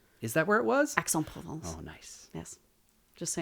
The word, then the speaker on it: Aix-en-Provence: Aix-en-Provence. Oh, nice. Yes. Just so you know the pronunciation.